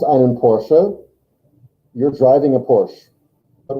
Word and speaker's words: Porsche: Porche or is it por I think it's Porsche because that's how I do yeah it is Porsche in Germany because you know you pronounce every letter yeah and so e gets pronounced um and it's someone's